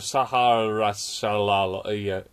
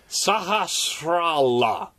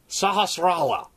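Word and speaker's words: Sahasrahla: Take it to Sahara Shalal. I will learn how to pronounce this. Sahasrala. Sahasrala.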